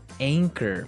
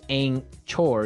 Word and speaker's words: anchor: boat word here anchor anchor anchor now it's spelled a n c h o r right but you don't pronounce the CH as you normally would right another one of